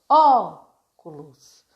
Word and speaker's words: óculos: tem mais tempo Agudo presta atenção na pronúncia da pró óculos qual que é mais forte tá picolé picolé onde